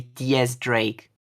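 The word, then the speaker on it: X Drake: His name is supposed to be Diaz Drake.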